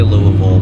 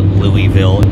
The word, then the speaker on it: Louisville: I'm conscious of the way I say Louisville because a lot of people made fun of me saying Louisville. Apparently that's not how you say it. Apparently the locals don't like when people call it Louisville. So I'm very conscious of how I say it. It's Louisville.